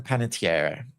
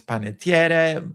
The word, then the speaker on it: Panettiere: Hayden Panettiere. Well, so I'm just going to call her Hayden from this, because I think in Italian it's Panettiere, but she's known as Panettiere.